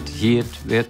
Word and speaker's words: Hiut: so it was H-I-U-T, Hieatt. And people go, how do you say it? I'm going, how do you want to say it? You can say Hieatt, Hieatt, who gives a shit?